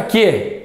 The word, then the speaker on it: quê: até tirar o assento ó veio aqui para quê para qu eu não consigo colocar esse som